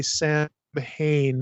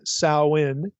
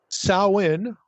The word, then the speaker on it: Samhain: Now, we're tempted to look at that and say Sam Hayne and Halloween. But that is not the way we pronounce this name.